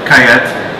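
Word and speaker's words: Callet: three reds starting with kayette or calette they pronounce it kayat in mayoka mayoka and spain this grape is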